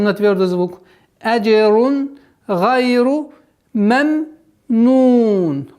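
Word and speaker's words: ممنون: Вот здесь нужно на втором произношении звука мим нужно не торопиться, потому что торопливость в этом моменте переходит в калькаля. Меменун, меме, а нужно спокойно. Мемнун, мемнун. Договорить звук второго мима с сукуном.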